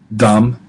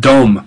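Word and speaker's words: דָּם: You say, well, why isn't that dom? Because you have the comets in a closed syllable there. Ah, but it's an accented syllable, so it's just dam, dam, blood.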